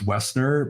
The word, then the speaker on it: Woessner: me up on linkedin my last name was westner but it's spelled w-o-e-s-s-n-e-r um so find me